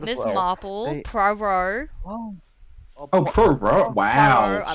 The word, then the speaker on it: Poirot: Marple, They- Poirot. Oh, Pro bro, wow, I love shit, Poirot. okay. No, you did not just say pro-ro. I said Poirot. You said pro-ro, it's Poirot.